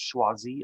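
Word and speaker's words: Choisy: wii and of course his name is pronounced schwazzi augusto schwazii there's some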